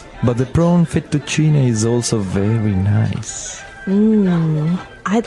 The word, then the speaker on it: fettuccine: would be penne penne so you you double pronounce the consonant what about fettuccine um in american we say uh ferecini fettuccini fettuccine alfredo is a very common american italian dish but in italian it'd be fettuccine so you might hear it differently and what